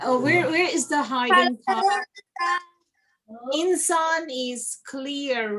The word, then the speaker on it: إنسان: It's the whole word, and insan means a human being. So what you are going to do now, inshallah, is to put your mouth in the shape of seen and pronounce noon instead.